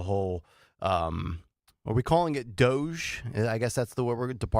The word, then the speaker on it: DOGE: to understand the whole, are we calling it DOGE? I guess that's the word, Department of Government Efficiency. Technically, we're calling it, that's how you pronounce it, DOGE? I mean, it's not I thought it was technically. Doja.